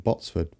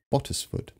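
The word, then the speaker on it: Bottesford: I pronounce this wrong I kept saying Botsford it's not his Bottas foot just so you know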